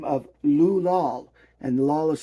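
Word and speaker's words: Lahl: work here under his pen name of Lou Lal, and Lal is spelled L-A-H-L.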